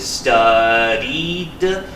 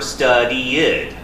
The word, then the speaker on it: studied: on the end but how do you say it is it studed studi or studied okay because the thing is the Ed is three different sounds okay we have t